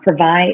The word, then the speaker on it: Privai: way to say it it is it is pravai is a skincare line my business partner and